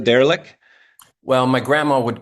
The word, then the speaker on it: Dařílek: Did I say it right, Darílek? Well, my grandma would correct you. It's Okay. pronounced Dařílek, and that's Ah, because there's some accent marks that don't translate from the Czech alphabet into English mm, so well.